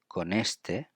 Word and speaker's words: con este: And in terms of pronunciation, we put together con and este because it's N and E. It's going to be con este, then coche, and then puedes ir, which is puedes ir.